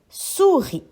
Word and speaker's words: souris: La souris L a la s ou r i. Souris. Pour ce mot, la lettre muette se trouve à la fin et c'est le S.